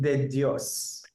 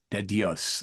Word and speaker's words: De Dios: do you say your whole name it's deos deos okay well it's great to have you on